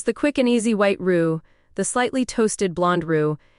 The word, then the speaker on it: roux: Enter roux, pronounced roux.